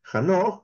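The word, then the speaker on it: חנוך: Luego dice Hanoch, que es el nombre de Enoch, en su pronunciación hebrea, también era una excepción en su generación.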